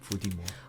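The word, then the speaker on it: 伏地魔: It's rather the phonetic pronunciation of the word Voldemort. In Chinese, it's... Fudimo.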